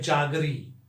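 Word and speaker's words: jaggery: पुराना जिसको कहते हैं, लेकिन इसका उच्चारण आज तक आपने नहीं सोचा होगा। ये है जागरी, जी हाँ, जागरी।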